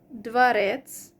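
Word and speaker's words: дворец: And ets suffix, for example, dvarets, which means palace, and the stress is on the last syllable, dvarets, and dvarca, dvarca, it changes.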